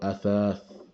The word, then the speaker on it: أثاث: Yeah, like alif for the hamza there, and then the tha, and then the next tha, thath. So athath.